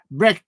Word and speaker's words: Bin: said Bin's name incorrectly sounds like breaching with double bre brein brein that's that's how you say it then bring I'm